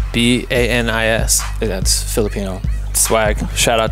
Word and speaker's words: Banis: with michel foucault bad it's bonus but it's my name wrong the entire name is that really bonus yes ba NIS that's Filipino swag shout